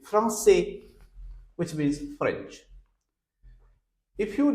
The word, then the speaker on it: français: Lent if you write this word f r a n c with sedilla a i s so its pronunciation will be France which means French if